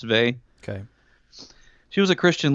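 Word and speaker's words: Weil: an affinity with Simone Bay you ever heard of Simone Bay she's a this is a book called gravity and grace but it says while but I guess it's pronounced vay okay she was a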